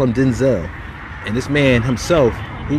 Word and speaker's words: Denzel: you know that denzel washington's name is actually pronounced denzel denzel he said his father's name was denzel technically